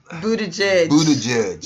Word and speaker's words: Buttigieg: Now you know how we get on people for not pronouncing our names correctly. Please correct me. Okay, Mayor Pete Buttigieg. Buttigieg.